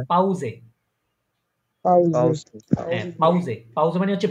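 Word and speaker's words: Pause: প্রোনাউন্সিয়েশনটা পাউজে পাউসে হ্যাঁ এস উচ্চারণ করবেন এটা জের উচ্চারণ করবেন পাউজে পাউজে পাউজে পাউজে মানে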